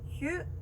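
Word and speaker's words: ひゅ: 자, 이 글자를 봤을 때 히에 유가 붙었습니다. 그러면요 히유라고 발음하는 게 아니라 작게 붙었기 때문에 한 음절로 휴 라고 발음해 주시면 됩니다.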